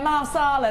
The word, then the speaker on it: Marsala: No, it's M-E-R, isn't it? Masala. Masala tones, not masala. I don't know what I'm saying. I don't know what I'm saying. Yeah, marsala, that's it.